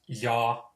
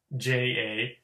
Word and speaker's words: ja: The Finnish word for and is ja, JA. Again, from this you see that the in the English the J can differ depending on, but in Finnish it's always ja.